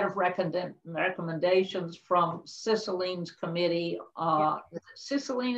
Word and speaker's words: Cicilline: Cicilline, is that how you pronounce it? Cicilline, okay. I never know whether it should be legit Italian or what, which has just come